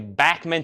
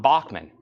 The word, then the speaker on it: Bachman: say all these years it's actually backman Turner overdrive not Bachmann but I'm always going to say Bachmann because Bachmann just don't sound too right let's do rat and